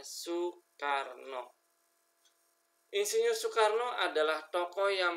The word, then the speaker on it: Soekarno: Indonesia adalah Bapak Insinyur Soekarno ya dibacanya Soekarno Insinyur Soekarno adalah tokoh